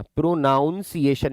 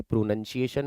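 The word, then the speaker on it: pronunciation: प्रोनाउन मत कर देना। प्रोनाउंसिएशन यह नहीं होती है। प्रोनंसिएशन होती है उच्चारण के लिए।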